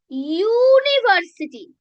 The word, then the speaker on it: university: You are saying university. Now u U universe like U this U is not a vowel sound it is a consonant sound.